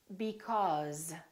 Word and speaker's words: because: Another word is was, because, these, those, please, always. So these are some very common words that we use all the time that are spelled with an S and pronounced with the Z sound.